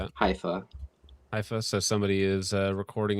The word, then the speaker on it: Haifa: Uh allegedly missile strike in Haifa, Israel or Hafa? I don't know how you pronounce that. Haifa.